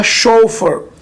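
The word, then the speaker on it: chauffeur: में बोलते हैं शॉप इसकी स्पेलिंग थोड़ी सी अलग है सी हा ए यू एफ एफ ए यू आर लेकिन इसका जो प्रनंसीएशन होगा वो होगा सो फॉर सो फॉर अब आगे बढ़ हवाई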